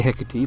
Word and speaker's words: Hecate: Alright, it's pronounced the Hecate, look it up.